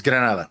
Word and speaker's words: Granada: It's Granada. It's just that in English it's Grenada.